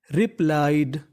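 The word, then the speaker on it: replied: IED को English में पढ़ते हैं आइड। क्या पढ़ते हैं? आइड। यानी आपको IED लिखा मिले तो उसका उच्चारण करना है आइड। तो मीनिंग बन गई रिप्लाइड, रिप्लाइड, रिप्लाइड।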